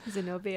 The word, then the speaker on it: Zenobia: Also, we have the Arch of Triumph, which is, and correct me if I'm wrong, this is Zenobia. Zenobia, is that how you say it? Zenobia, yeah. Zenobia's, exactly.